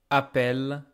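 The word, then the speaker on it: appellent: Don't be fooled by this ENT. I don't pronounce it. This appel, even though there is ENT, is pronounced exactly like appel, appel, EES.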